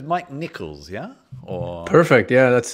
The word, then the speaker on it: Nikles: So it's Mike Nikles, yeah? Or... Perfect. Yeah, that's the right pronunciation.